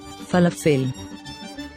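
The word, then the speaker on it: פלאפל: vegetables and hummus falafel has three nickled signs there's a nickled sign for pronouncing a longa under the first fe and under the first la med then under the second phase there's a nickel sign for pronouncing a short e sound as in the word egg so we say falafel falafel so now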